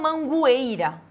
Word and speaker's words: Mangueira: Mangueira é tritongo ditongo porque eu não falo mangueira tá vejo que aquele o ali não tem som é Mangueira Então eu